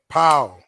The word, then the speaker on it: Pau: Because a lot of people pronounce his name wrong. And I'm gonna show you the cheat way, the way to remember it, okay? P-O-W. You about to say talk about Paul? Yeah, it P-O-W. Paul. That's how his name is pronounced.